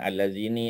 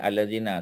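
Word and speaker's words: الذين: allazina pun abnormal n tak boleh baca dengan allazini allazin tak boleh allazina sentiasa ya abnmal n dengan satu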